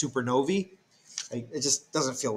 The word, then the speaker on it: supernovae: die they go supernova or this is actually pronounced supernovae it just doesn't feel